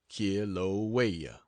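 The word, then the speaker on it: Kilauea: active volcano in the world that of kilaa pronounced K waya and from then back to San Francisco and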